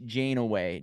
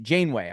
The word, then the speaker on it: Janeway: think about William H janway Janeway I believe is how you say Bill is what he